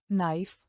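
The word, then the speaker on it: knife: के अक्सर एन से पहले साइलेंट रहता है। जैसे नाइफ और एच अक्सर ओ से पहले साइलेट होता है।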